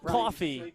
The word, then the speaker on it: Coffey: Coffee, like the drink, just not spelled the same.